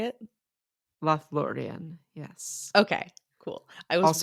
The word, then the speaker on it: Lothlórien: chapter 7 okay so let me get that pronunciation one more time lloran is that how you say it lth laan yes okay cool I was worried about thatan